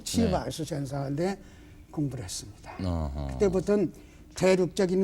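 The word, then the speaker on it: 齊白石: 재백이 아고 세계적인 대가입니다 치바이스 중국 발음으로 치바이스 상한데 공부를 했습니다 그때부터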